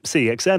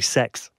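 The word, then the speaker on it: CeX: the other day I was in derby um cxm they've got a uh a Super Nintendo in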